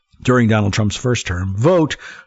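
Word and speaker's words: Vought: Vote, whose name is pronounced vote, by the way, and I am pronouncing it correctly, but thank you for the pronunciation guide.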